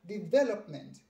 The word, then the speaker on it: development: is a development the the stress is on this ve okay most people put the stress okay on the first syllable sum okay the third syllable but the syllable is on the second it is development okay the development of